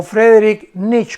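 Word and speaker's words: Friedrich Nietzsche: siglo 20 número 3 friederich nietzsche o frederic knicks como se pronuncia en alemán este hombre afectó el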